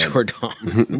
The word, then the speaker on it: JorDon: Well, no, but it's spelled, it's J. Oh, yeah. Jordan would be D-A-N, not D-O-N. So okay. it's JorDon.